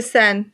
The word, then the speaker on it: Seine: So while we're on this, How do you pronounce the river going through Paris? The Seine? Okay. I always freeze. Okay. The Seine.